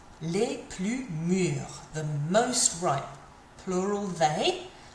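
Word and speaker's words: mûres: Les plus mûrs. The most ripe. Plural they. And, plural the. And then an E and an S because bananas are feminine and plural. But doesn't change the pronunciation here.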